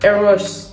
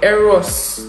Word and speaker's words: Eros: to eradicate the sachin aeros sorry my hungarian pronunciation is coming to play here eros emeralds eros e-r-o-s guys i thank you